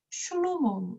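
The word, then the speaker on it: שלמה: 잘 아는 솔로몬이 있습니다 솔로몬의 이름이 히브리어로 발음을 하게 되면 쉬이 첫 번째 글자이기 때문에 슐로모 됩니다 자 이제 마지막 알파벳인요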